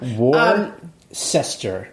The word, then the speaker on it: Worcester: Like, is Western Mass everything west of Worcester? People from Massachusetts are laughing at Jay right now. Worcester. That's the way it's pronounced.